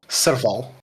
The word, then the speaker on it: Serval: Serval. Serval. Serval. At least that's how they pronounced it in game.